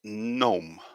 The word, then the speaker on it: gnome: well done nj the correct spelling here is gnome gnome so we can see here quite easily